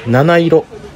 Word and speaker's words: 716: ぐらいですかね 716 と書いて七色と読む油そば専門店が